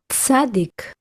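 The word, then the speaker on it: צדי: Tzadik. Tzadik sofit. Ts, as in boots.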